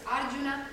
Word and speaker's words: Arjuna: Prakriti, recordad que en sánscrito la mayoría de las palabras son esdrújulas. Es Prakriti, es Sarasvati, es Arjuna, es Asana, son esdrújulas, el acento en la tercera sílaba.